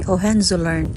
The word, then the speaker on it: Hohenzollern: Gipangtaya na gayong uban pero mura gid ni ilang anihi andere aning Hohenzollern Bridge kuya kay pag-pronounce ay Hohenzollern.